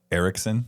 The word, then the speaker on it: Erickson: How do you say his last name? Erickson. There you go. Good job. You got it on the first try.